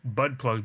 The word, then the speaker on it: Bud Plug: They all make fun of the fact that his name is Bud Plug because it rhymes with butt plug.